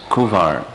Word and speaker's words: Kunwar: the Dodgers name was kunwar but without pronouncing the end becomes Kivar but spelled with an N those of you from